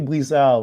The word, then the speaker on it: Brissard: Brizard rhymes with Richard, as we Yes, just found out earlier.